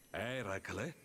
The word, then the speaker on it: Eracle: Dopo aver sconfitto la Gorgone che aveva teso un agguato a Eracle... Ma che fai? Che succede alla tua voce? Eracle? Sì, quello. È così che si dovrebbe pronunciare.